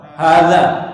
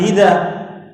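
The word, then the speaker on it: هذا: Jadi nanti kalau ketemu antum yang seperti ini tulisannya, bacanya Pak, hadza, jangan hida. Tetap hadza.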